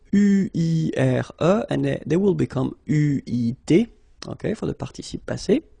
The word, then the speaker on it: eu: But you will have to pronounce it U.